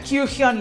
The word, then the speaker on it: Kyuhyun: Bueno, entre él, entre Kyuhyun, se pronuncia Kyuhyun, licenciado, y Ryeowook, que son la subunidad de Cry, son unos vocerrones impresionantes y Yeseong no fue la excepción a estos.